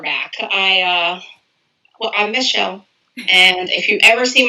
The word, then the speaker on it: Micheal: mistake happens quite often i get called michael a lot because my name is impact spelled m-i-c-h e-a-l which it's lovely right